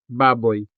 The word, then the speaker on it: baboy: Our diphthong in this word baboy is oi, which is a part of the final syllable, boy.